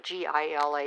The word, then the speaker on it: Gila: and a Gila monster which you know is actually GI LA but they pronounce it Gila monster so those are my